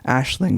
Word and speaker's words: Aisling: It's pronounced Aisling, but it's A-I-S-L-I-N-G, and I know it as a girl's name, right?